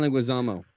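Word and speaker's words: Leguizamo: Louisie Garyo or how do how do you pronounce his last name? John Linguisamo.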